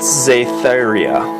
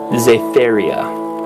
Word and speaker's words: Zia: lost a Pete Zia Zia that's right that's how you say that name I don't care how how you want to pronounce damn it pronounce my own goddamn way oh these are